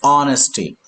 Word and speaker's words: honesty: love honesty honest listen H is not to be pronounced honesty honesty huh h yes sir